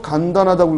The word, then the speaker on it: 간단: 간단하다고 읽었어요? 간단입니다. 발음 주의하세요. 발음 주의하세요. 간단하다가 아니라 뭐라고요? 간단하다.